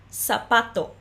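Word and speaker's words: zapato: é sapato sapato então em português a gente escreve com s mas a pronúncia delas é praticamente a mesma sapato sapato mesmo que a gente escreva com z e espanhol EA segunda palavra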